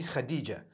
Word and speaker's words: Khadija: I would say Hatice for that. No, it's actually Khadija.